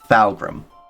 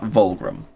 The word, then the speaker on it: Falgrim: Okay, because it's Falgrim, Mm. not Volgrim.